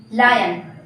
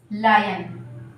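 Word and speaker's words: lion: ये क्या है, इसको अभी तक हम क्या बोलते थे, लॉयन। बट ये क्या है, इनकरेक्ट। ये करेक्ट प्रोनाउंसिएशन नहीं है, मिस प्रोनाउंसिएशन। ओके, सो इसको हम क्या बोलेंगे, लायन। क्या बोलेंगे, लायन। ठीक है, लायन क्या है, करेक्ट प्रोनाउंसिएशन है।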